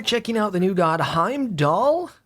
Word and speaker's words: Heimdallr: out the new god hime doll I think I don't think I think the R is silent I did a little